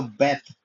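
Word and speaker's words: בּ: सो बेथ basically एक बहुत ही common शब्द है यहूदी लोगों के लिए इब्रानी भाषा में।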